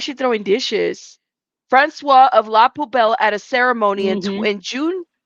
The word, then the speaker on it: La Poubelle: La Poubelle.